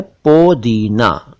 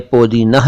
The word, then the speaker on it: पोदीना: वैसे उर्दू में पोदीना लिखा जाता है, क्योंकि फारसी में यही इसका रूप है, पोदीना, लेकिन पोदीना कह दें तो भी चलेगा। पुदीना चल पड़ा है इसका उच्चारण और इसकी स्पेलिंग।